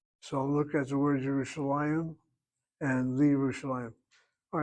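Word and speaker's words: ירושלים: If the first letter in the noun is a yud with a shva under it, then the yud is not pronounced. So look at the word Yerushalayim and Li Yerushalayim.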